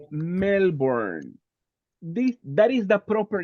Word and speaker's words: Melbourne: In this case, you say Melbourne. That is the proper name. Like Santa Ana, Melbourne it's a name. It's a proper name. Melbourne building.